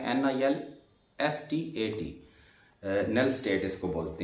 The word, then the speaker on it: NILSTAT: इसकी स्पेलिंग है NILSTAT, nail स्टेट इसको बोलते हैं।